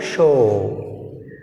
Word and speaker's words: show: Next word is show. What is the word, show, which is silent, w silent. Remember like this, remember like this.